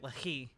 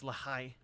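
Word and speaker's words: Lehi: I've been pronouncing it Lahi. I guess it's Lahai.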